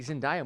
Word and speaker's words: Zendaya: it zendaya i'm pretty sure it's zendaya it's zendaya and that we've been saying you're wrong for